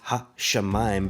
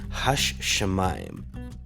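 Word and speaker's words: השמים: pronounce it not as ha Shaman but we would pronounce it as hash shemaim but as you flow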